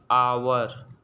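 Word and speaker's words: hour: का यूज़ करते हैं, क्योंकि इसका हम प्रोनाउंस कैसे करते हैं, आवर।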